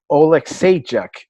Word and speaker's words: Alexeychuk: And Mikhail Alexeychuk is how you say it.